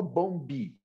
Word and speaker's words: bomb: tenho peculiaridade que é o b por exemplo ele é mudo não fala Bomb Bob eu simplesmente deixa